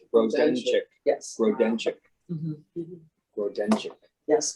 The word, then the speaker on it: Grodenchik: Grodenchik. Grodenchik. Yes. Grodenchik. Mhm. Grodenchik. Yes, which is just how you would spell it, but it's Grodenchik.